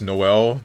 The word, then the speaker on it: Noel: Why can no one pronounce his name? It's Noel. There is no There is an E in there. There's an E in null.